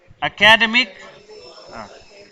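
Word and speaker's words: academic: लफ्ज एकेडमिक का दुरुस्त तलफ़ुज़ नहीं किया जाता है। एकेडमिक, the word एकेडमिक is not pronounced correct या करेक्टली।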